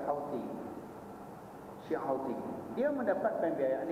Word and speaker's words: Houthi: Dia ejaan Houthi tapi baca Houthi.